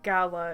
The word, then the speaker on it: Gala: I pronounced it gala, indeed, like the apples.